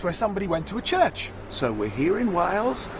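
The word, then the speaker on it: Chirk: are we are at church in wales and it's even spelt real funny as well it's spelt c-h-i-r-k but that's not the mystery but you still better tell us how come it's church what does it mean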